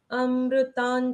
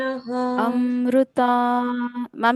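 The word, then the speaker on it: अमृतां: बताओ मुझे अमृतान शुद्ध ता के ऊपर जो अनुस्वार है उसको आधे न के जैसे पढ़ना है। अमृता न की तरह क्यों पढ़ रहा है? इसको तो हम म की तरह पढ़ते हैं। अमृताम शुद्ध ऐसे नहीं पढ़ा जाता यहां पर।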